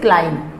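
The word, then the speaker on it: climb: कैन यू क्लाइंब अप, बी इसमें silent है, जब एम के बाद मोस्टली देखा जाता है कि जब एम के बाद बी का यूज़ होता है और वो भी वर्ड के लास्ट में, तब वो साइलेंट ही होती है। क्लाइंब, इसको हम रीड करेंगे क्लाइंब, इसका करेक्ट प्रोनाउंसिएशन इज क्लाइंब।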